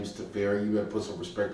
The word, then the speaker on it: Teferi: Teferi, however you pronounce it. Temporal Archmage. Wait a second. His name is Teferi.